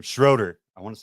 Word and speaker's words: Schroeder: Schroeder. I want to say it's Schroeder. We're going to find out. He's nodding yes. It's Schroeder.